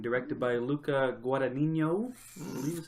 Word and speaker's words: Luca Guadagnino: of Call Me By Your Name, directed by Luca Guadagnino. I believe is how you pronounce that. Yeah. Starring... It's guacamole. You're right, Luca Guadagnino.